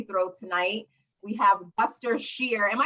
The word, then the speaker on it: Scher: your last name right some people say shear which I love actually like the sound of that better than how most people pronounce it which is share oh man but I